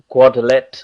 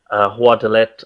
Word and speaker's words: Guadalete: It is also known as Guadalete. I'm not sure how they exactly pronounce that in Spanish, Guadalete or however, but that's also what it's referred to.